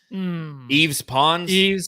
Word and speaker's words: Yves Pons: Yves Pons. Yeah, I was gonna say Yves Pons.